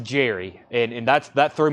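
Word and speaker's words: Gerry: I think I it's it's spelled with a G it's pronounced Jerry and and that's that threw me off for a long time I still sometimes say Jerry Gary Jerry Jerry with a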